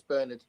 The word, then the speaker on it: Bernard: Is he Is he an English author? Yeah. Okay. In that case, it's Bernard.